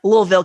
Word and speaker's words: Louisville: It's not Louisville, Kentucky, but it's like Louisville, Kentucky, right? Oh, I think I was Laguna to go. Louisville.